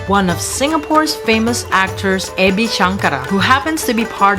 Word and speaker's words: Ebi Shankara: And I'm here with Ebi Shankara. Did I pronounce that right?